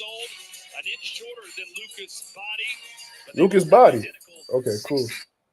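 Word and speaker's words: Bahdi: H2O still just 20 years old, an inch shorter than Lucas Body. Lucas Body. Okay, cool. So his name is pronounced like Body.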